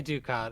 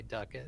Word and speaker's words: Ducat: duck duck it the the pronunciation there i say ducat as well but i know duck it's correct and uh so i will be good to people on commentary and say duckett yeah so i mean